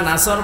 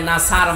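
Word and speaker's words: نصر: আপনি অর্থ পাল্টিয়ে ফেলবেন এই যে যারা সূরা নাসর পড়ে আমি তো ইজাজা নাসরুল্লাহ বলেছি এখানে সোয়াদ আছে মুকুল হবে সিন দিয়ে উচ্চারণ করলে নাসার মানে শকুন বা ইগল অথচ নুন সোয়াদ র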